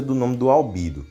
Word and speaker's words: Albedo: pronúncia do nome do Albedo. Ele fala que é assim, que em WAF, no idioma original, onde ele é pronunciado como Albedo. Só que em Omniverse é mudada a pronúncia para Albedo.